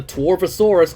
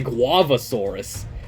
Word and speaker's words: Torvosaurus: wow this is strong here's the torvosaurus or as because gabbro is very bad at pronouncing names so he always I always heard him say guavasaurus or maybe it's a tuavasource either way he said it stupidly what complete wild car